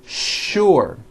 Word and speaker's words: sure: What you may not know is that there are some words in English that are written with the letter S, but are pronounced with the SH sound. Words like sugar and sure.